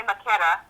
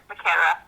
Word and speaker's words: Macera: It's the Italian way. It's technically Macera. Okay. Macera.